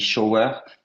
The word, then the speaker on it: shower: Tu m'as juste dit shower, c'est shower. Le R ne se prononce pas à la fin.